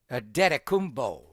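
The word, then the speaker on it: Antetokounmpo: And we go with the Greek version, a detaumbo, not the Nigerian version where it's a T first and a P later because his parents are they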